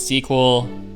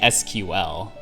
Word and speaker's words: SQL: where you say like you could say sql that's three syllables and then you had to say no sql only 13 sir oh there we go pro tip it's you say sequel and then people know oh this person knows what they're talking about